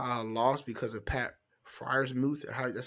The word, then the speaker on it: Freiermuth: Did I tell y'all I lost because of Pat Freiermuth?